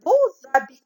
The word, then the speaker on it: beaux habits: Mais lorsque je fais la liaison entre beau et habit, X maintenant, il se prononce Z. Je dis de beaux habits, de beaux habits.